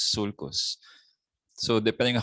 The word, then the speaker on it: sulcus: So singular is sulcus. No, it's not sulcus. No, it's sulcus.